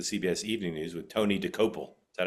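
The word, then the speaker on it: Dokoupil: News, for the CBS Evening News, with Tony DeCopel. Is that how I pronounce it? Did I get it right? Tony DeCopel.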